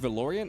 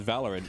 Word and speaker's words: Valorant: like I was like is it pronounced valoran I thought it was pronounced valerin and they're like yeah